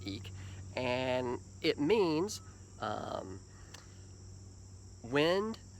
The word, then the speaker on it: Ik: is what's called the eek glyph spelled ik pronounced eek and it means um